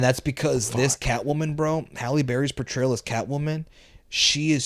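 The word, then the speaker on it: Halle Berry: for real man number four man we got Haley Barry as catw one hi hi Hal was haly no I it looks like it right looks like Haley but it's it's pronounced halberry which by the way is the actress that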